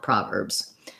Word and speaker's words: Proverbs: And that letter Z, that letter S says the Z sound, Proverbs.